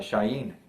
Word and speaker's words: shin: the so-called hebrew alphabet shin is actually pronounced shayne and that is where we get the english word shine to shine like the